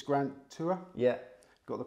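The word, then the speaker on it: Grant Tuer: now you use one trainer yeah and it's Grant tour yeah got the pronunciation right it is in North Yorkshire so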